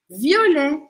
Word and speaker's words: violet: letra e do final Violet violé Violet é roxo tá violé violé abre a boca aqui no não fala o t Mas você vai deixar um som mais aberto violé depois a gente tem